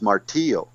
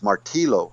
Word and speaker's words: martillo: pronounce like for example my last name in in Spanish is martio and in in you say the same thing in Tagalog but I think it's martillo or something like that martillo martio yeah martio that's what it is and that's not the way you pronounce it in Spanish it's martio in Spanish